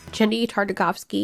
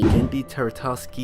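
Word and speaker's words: Genndy Tartakovsky: anything he's ever made, I still feel compelled not to get his name wrong on purpose for a cheap gag or because I'm too lazy to look it up. Gendy Tartakovsky. Gendy Tartakovsky.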